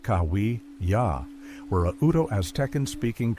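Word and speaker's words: Cahuilla: The Cahila, pronounced Kawi Ya, were a Udo Aztec speaking tribe inhabiting California's Riverside and San Diego counties, divided into desert, mountain, and western subgroups.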